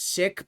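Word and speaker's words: Sikh: You don't pronounce it seek. It's pronounced sik.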